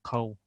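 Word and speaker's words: хъæу: То есть в дигорском будет «гау» — село, а в иронском «кау».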